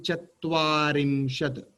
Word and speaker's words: चत्वारिंशत्: I found many people are a little bit difficult in pronouncing Chatvarimshat. Repeat again. Chatvarimshat. You know, Spets is called as Chatvaram.